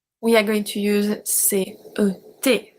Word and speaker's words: ces: We have C-E-S pronounced C.